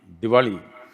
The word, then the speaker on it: Diwali: has the habit of cutting off the last syllable always almost everything Krishna Krishna the powerli Diwali like this so someone cut this Denim and